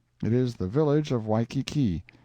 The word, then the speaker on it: Waikiki: is the village of waikiki usually pronounced wai ki kai once the capital of